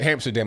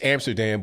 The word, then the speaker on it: Amsterdam: now what happened to Hamsterdam I by the way it's Amsterdam but one under little dope boy is pronounced it Hamsterdam so it just became known